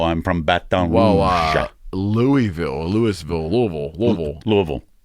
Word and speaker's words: Louisville: from baton rouge wow louisville louisville louisville louisville louisville it's like one syllable louisville louisville one and a half one and a half